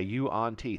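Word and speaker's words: yuan-ti: it a one t so they call you on t Okay U on T three syllables I'd call it a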